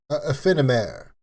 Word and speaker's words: Aephanemer: AEPHANEMER. I'm French, so I'm going to say it in the French pronunciation because AEPHANEMER, because they're from France.